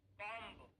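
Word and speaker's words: bomb: उच्चारण करते लेकिन देखिए एम के बाद यदि बी है तो हमें बी को नहीं पढ़ना है केवल कॉम यहां पर भी बी को नहीं पढ़ना है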